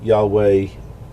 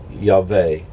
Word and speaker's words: Yahweh: and the V the that V can be pronounced like a w so that's how come you get the yah way yaave you know and uh